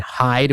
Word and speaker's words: Hyd: Back to the list: Grace Ives, Hemlock Springs, and Hyde, which is spelled Hyd.